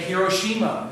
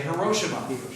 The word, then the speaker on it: Hiroshima: my own name um people often say hiroshima in japan in terms of military history some people say hiroshima yeah i prefer the first one a lot of people